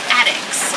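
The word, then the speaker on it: addax: And the current residents, they're called addicts. They're a type of desert dwelling antelope. Their name is spelled A D A N.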